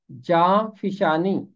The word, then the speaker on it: جاں فشانی: ہے جاں فشانی کرنا۔ اس کا تلفظ ہے جاں فشانی، اور پوری بائبل میں